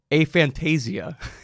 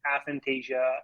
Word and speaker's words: aphantasia: a Fantasia or I've also heard a Fantasia that's another way to say it it's uh it's probably somewhere between a Fantasia and athentasia it's more like a tomato tomato in terms of the pronunciation on that but really it comes